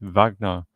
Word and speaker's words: Wagner: Shadow Home Affairs and Cybersecurity Minister James videos after they pronounce this with a V. It's Wagner boss.